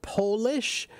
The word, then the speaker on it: polish: you heard the word Polish. So Polish with a capital P means people or things from Poland. But if it's with a lowercase p, it's pronounced polish.